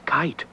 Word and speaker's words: kite: of the word she's giving us her silent sign so I know I will make my long eye sound oh this is very exciting M ey is holding up her long sound sign with silent e at the end the word is kite oh letter people do